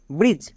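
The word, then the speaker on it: bridge: রকম ভাবে বি আর আই ডি জি ই ব্রিজ সি এ ডি জি E catch N এ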